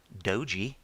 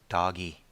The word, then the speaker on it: Doge: I find it amusing that even on television they pronounce it Doji or Doge, but just for posterity, it's pronounced Doggy. That's why there's a dog on it.